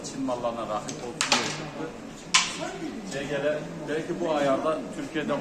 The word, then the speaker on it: CGL: Jiguli. Jiguli 125 diye geçer. Normalde CGL diye okunur, Türkçe'de Jiguli diyorlar.